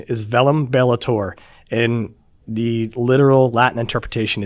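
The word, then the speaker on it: Verum Bellator: The correct pronunciation is Velum Bellator, and the literal Latin interpretation is Truth Warrior.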